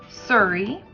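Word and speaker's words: cirri: are his legs remember as they were called surrey it's spelled c i r r i those are the legs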